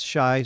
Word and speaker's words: Shea: shy in this game it's spelled Shea but he likes to pronounce it he tells me it's shy so I believe in